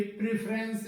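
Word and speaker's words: preference: तो ये प्री प्री करके होता है, जो इसका उच्चारण या प्रोनाउंसिएशन गलत है। जबकि इसका सही जो प्रोनाउंसिएशन होता है, जो इसको अपन करेक्टली प्रोनाउंस करते हैं, वो प्रेफरेंस, प्रेफरेंस करके होता है, प्रेफरेंस।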